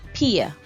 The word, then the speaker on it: pia: is pi but please isolate each letter and try to pronounce it in its most primitive form so this is pia pia and it sounds like pay in english and that's what it means pay or paid pia so this sentence